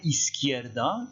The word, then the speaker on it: izquierda: En fait, vous prononcez is, ensuite qui, da. Is, qui, da. Izquierda, si on va un tout petit peu plus vite.